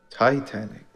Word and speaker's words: Titanic: Titanic. But that's not how it's spelled. There is no long I in Titanic.